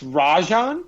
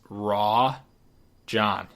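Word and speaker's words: Rajon: But it's Rajan. It's Rajan. Wait a second. Look it up. Okay. Well, then the whole world has been saying that wrong for the last 10 years. His pronunciation is Raw John.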